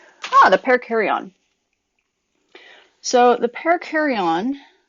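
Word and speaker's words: perikaryon: kar-wai oh and but it's pronounced like a pair of carry-on luggage it's not spelled like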